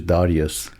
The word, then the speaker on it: Darioush: And we choose the American pronunciation of the Darush which is Darius.